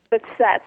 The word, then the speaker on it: Behçet's: Tell me for a second, the thing, am I saying it right? Is it Behçet's disease? Is that what you have? The Setz.